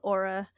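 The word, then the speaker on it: Oura: wear this ring it's it's called Aura I think it's I think it actually starts with a o which is funny because you wouldn't think Aura would be spelled with a o but it tracks like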